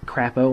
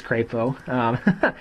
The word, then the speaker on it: Crapo: It's also not Crapo, like it looks like it might be pronounced. It's Crapo.